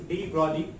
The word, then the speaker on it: de Broglie: G silent है यहाँ पे, so we can pronounce this de Broglie or matter waves.